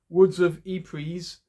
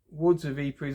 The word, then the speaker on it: Woods of Ypres: Now, I think you pronounce them Woods of Ypres. It's actually got a Y on it. Y-P-R-E-S. Woods of Ypres.